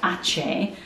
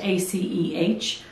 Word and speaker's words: Aceh: Here we have the Hoya Aceh Splash.